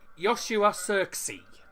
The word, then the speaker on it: Joshua Zirkzee: How do you pronounce the goal scored, man? Joshua, it's Joshua Zirkzee.